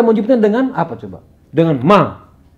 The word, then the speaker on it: ma: Dengan Ma. Tulisannya Ma, M-A, Ma. Cuma dalam pengucapan ada vokalnya, ada ngaungan di bagian belakang kayak mang, ada penamaan kayak ng. Tapi dalam tulisannya kita menulisnya dengan ma, ma.